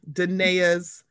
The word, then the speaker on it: Danae: This is one of Danae's, and the reason I know how to pronounce her name is because she phonetically put the spelling of her name as her Instagram handle. So it's Danae.